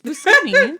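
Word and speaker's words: Buscemi: Do you say his name Steve Busi? I've never heard that. Yeah, that's how you say it. It feels like when people say Pisceti. No, it's Busi.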